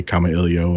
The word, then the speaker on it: Kamailio: and so you know I'll say common ilio and and that's the way I'll choose to to refer to it excellent all right well I'll follow your pronunciation of today so camellia camellia then what what